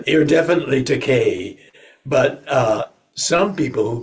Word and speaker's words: Takei: to call an actor expensive it's you're definitely teay but uh some people who pronounce teay teai thought it rhyme with oh my I was